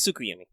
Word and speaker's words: Tsukuyomi: wrong i could be no it's tsukuyumi yeah that's the that